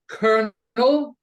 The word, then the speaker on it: colonel: you know the word colonel it's spelled c-o-l-o-n-e-l where does the r sound come from Colonel I don't understand